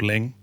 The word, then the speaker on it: Luing: And then from there you've got you you can take a ferry south to an island called Ling or Luing.